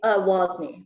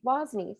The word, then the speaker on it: Wasney: And today's founder, do you pronounce it Wasney? Wasney? Wasney. Wasney, sorry.